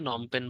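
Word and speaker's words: Phnom Penh: বলি নমপেনটা তো আসে নমপেন বানানটা একটু মনে রাখতে হবে আপনাদের কম্বোডিয়ার রাজধানী নম পেন নম পেন পি দিয়ে শুরু নম পেন আবার লাস্ট একটা এইচ আছে ইস্তিমুরের রাজধানীটা আসে তিলি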